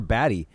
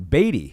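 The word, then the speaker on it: Badie: any of those chances Tyler baddy for uh or batty Tyler batty I think is how you pronounce it here out of Missouri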